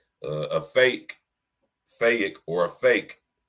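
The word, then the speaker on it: PHEIC: it one more time y'all a fake pronounced fake applies to an extraordinary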